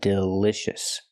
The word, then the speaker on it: delicious: pronounce the word delicious we cannot use the long e sound like green beans we use the short I sound like this is again it's more